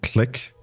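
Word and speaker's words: Clique: what add-on that is it's called click c l i quu e that's how you spell it and uh click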